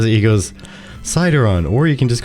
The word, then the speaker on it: Sydaron: of March 2022 with citizenship with our guests cideron or is he like sick so have I but every time he says he goes cideron or you can just call me every